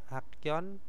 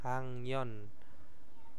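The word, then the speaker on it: 학년: Terus hakyon ya itu bacanya hangyon.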